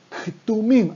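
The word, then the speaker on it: כתומים: Ktumim, hay que pronunciar la K del principio.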